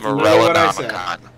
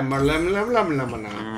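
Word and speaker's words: Morellonomicon: Morella Namakan. Morella Namakan. Yeah, Malamanakan.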